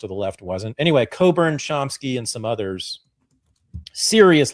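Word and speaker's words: Cockburn: revisit or look at Alexander Coburn spelled like Cochburn Alexander Coburn's work um that's my guy.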